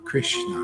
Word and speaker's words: Krishna: people chatting them Krishna Krishna that's all these two this is Krishna that's it two syllables for God's sakes anybody can do this